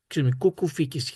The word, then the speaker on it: Κουκουφίκης: Konstantinos Tsιάμης, who is a FIDE master, and Alexandros Kukufikis. Kukufikis, his correct pronunciation.